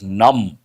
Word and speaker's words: numb: You should also think of words like numb. When you go to that region, your fingers, your toes become numb. NUMB, B is silent, no sensation.